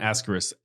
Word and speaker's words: asterisk: I'm I'm- throwing asterisks everywhere in this video. Oh my God, you guys are killing me. Go ahead. First off, learn how to say the words asterisk, asterisk. not actor.